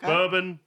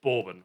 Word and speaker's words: Bourbon: So, there's three The word Borbin can be pronounced three different ways for three different things. You got bourbon, the whis the American whiskey. You got Bourbon, the French uh former royal family. And you've got Borbin, which is a chocolatey